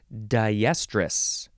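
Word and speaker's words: diestrus: an adjective so yeah we're using the Daya prefix even though it only is spelled D i Daya plus estrus and Daya means through or across and so this is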